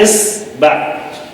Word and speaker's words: إِصْبَع: صحیح اس کا نطق کیا ہے عربی میں؟ جس طرح یہ تشکیل الف پہ کسرہ، صاد پر سکون، با پہ فتحہ، اصبع.